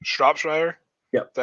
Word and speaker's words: Shropshire: How's it pronounced? Shropshire?